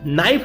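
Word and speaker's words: knife: नाइफ आप लिखेंगे तो बोलेंगे नाइफ, तो न बोला जाएगा, एन बोला जाएगा। उसको लिखेंगे जब तो के एन आई हो जाएगा, के आ जाएगा, तो के साइलेंट है।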